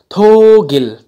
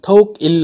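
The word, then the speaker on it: 독일: जर्मनलाई हेर्नुहोस् त, यहाँनिर थोगिल, थोक इल होइन, थोगिल भयो यो, थोक इल नभएर माथि ग नै जान्छ यो भवेलसँग, त त्यही भइहाल्यो, थोगिल.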